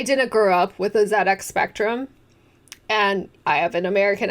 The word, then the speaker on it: ZX Spectrum: I didn't grow up with a ZX Spectrum, and I have an American accent, so I pronounce the letter Z, like Z-E-E, not Z. And in one of my early videos, I say ZX Spectrum, because I never heard